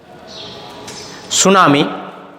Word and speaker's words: tsunami: पहला जो शब्द है आपके सामने वह है सुनामी। पाठ के टाइटल से ही लिया है मैंने, सुनामी। टी इसमें साइलेंट है। सुनामी पढ़ेंगे SUNAMI, सुनामी यानी समुद्री तूफान।